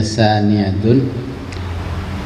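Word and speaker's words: ثانيةٌ: Angka dua itu bacanya saniyatun.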